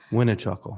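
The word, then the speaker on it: Winichakul: is winichuckle winnie chuckle that's how you pronounce the last time that's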